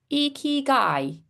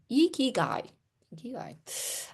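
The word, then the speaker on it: ikigai: Thanks Cla for phonetically eeky guy. Eeky guy.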